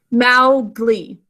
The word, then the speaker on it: Mowgli: Say it with me, Mowgli, 2 syllables. First syllable, ow, 2 sounds, using ow, cow in the snow.